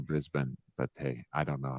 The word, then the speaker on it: Brisbane: it's probably a like a lot of Americans saying breezebane rather than Brisbane but hey I don't